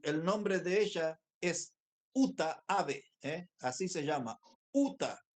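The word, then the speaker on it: Uta Abe: muy fácil es japonesa se escribe ut a Uta ave eh como ave como pájaro pero con b larga y entonces cuando ella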